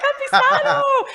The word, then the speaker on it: Campisano: You said it right. I said it, Campisano.